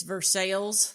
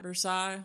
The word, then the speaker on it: Versailles: And I know from experience that even though it's a French name, they don't pronounce it that way in Kentucky. Right. It's Versailles and not Versailles.